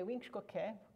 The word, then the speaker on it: Giizsookwe: So when we say Giizsookwe, we stretch those out, so you end up with a short vowel, a pair of syllables, each with a short vowel. Short vowel, syllable, and we pair these up, which is why I'm writing short vowel, syllable pair. And in that pair, all the time, the second one gets the accent.